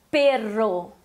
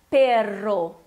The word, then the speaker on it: perro: Perro. Perro. Aquele R vibrado.